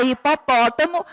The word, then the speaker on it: hipopótamo: Na palavra hipopótamo, a sílaba mais forte é a sílaba pó, hipopótamo.